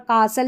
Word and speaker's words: castle: का यहां पर कासल या कैसल करके पढ़ेंगे।